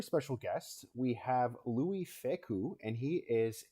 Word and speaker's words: Fecou: We have Louie Fecou, and he is a.